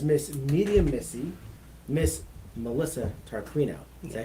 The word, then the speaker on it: Tarquino: She is known as Miss Medium Missy, Miss Melissa Tarquino.